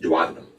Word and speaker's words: duodenum: The first part is the duodenum, sometimes pronounced duodenum.